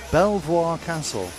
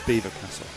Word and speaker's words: Belvoir Castle: You probably would have seen it and gone, "Oh, Belvoir, Belvoir Castle." But it's Beaver Castle. That's how it's pronounced.